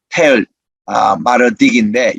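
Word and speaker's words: Tell Mardikh: 이 에불라, 그 에불라는 요즘으로 발음하면 텔, 마르딕인데 여기 톨이라고 한 것은 틀립니다. T-E-L-L입니다. T-A-L-L이 아니고 T-E-L-L입니다. 텔 마르딕이 요즘 현지 발음이에요.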